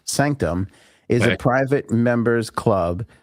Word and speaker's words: SNCTM: SNCTM, pronounced Sanctum, is a private members